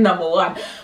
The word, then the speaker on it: Waneta: this girl calling her number one or something? That's just something people call me. It's supposed to be W-A-N, but they call me, it's pronounced the number one.